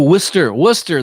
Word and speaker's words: Worcester: Oh, Worcester. That's it. I knew there was a pronunciation.